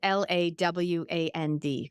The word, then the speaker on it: Lawand: Instagram, LinkedIn, Facebook, it's just my name, Lawand, or shoot me an email and I'll add you to my list. Amazing. So I'm going to spell it for everyone again. So Lawand, Lawand, correct?